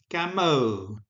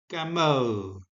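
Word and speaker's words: γαμῶ: So, in my best Erasmian pronunciation, the verb is gameo, gameo, and in the contracted form, it is gamo, gamo.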